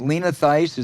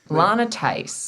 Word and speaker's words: Lana Theis: The state senator who put out that false, sleazy charge, is it Lena Theis? Am I pronouncing it correctly? Lana Theis.